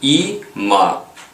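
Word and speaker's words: אמא: корінь Давайте спробуємо прочитати Іма в кінці Алеф не читається Тому що під ним огласовки ніякої немає точно так само а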